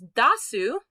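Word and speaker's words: 出す: right after it okay you can also pronounce this dasu if you see a su after it you know automatically this is pronounced da not de this is deru dasu means to take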